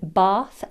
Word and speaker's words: bath: Right, let's address the difference in pronunciation between bath and bathe. Bath, the noun, has a long vowel sound, whereas bathe, the verb, uses a diphthong, a, bath, bathe.